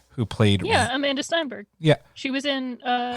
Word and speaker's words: Amandla Stenberg: pick is um and it's gonna sound like i'm pronouncing it wrong i'm not is amandla stenberg who played yeah amanda steinberg yeah she was in